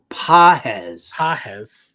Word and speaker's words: Pages: And if Pages, I guess, is back in the lineup, you could give him a look at 25. Oh yeah. Pages. It's Pajes. Pajes is how you pronounce it.